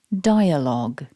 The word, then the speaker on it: dialogue: one repeat after me dialogue so going back to the orthographic form my top tip for this word is don't pronounce the U and the e at the end remember the word dialogue